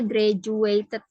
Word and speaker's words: graduated: from High School ya Ini bacanya graduated jadi D itu dibacanya J ya graduated artinya apa selamat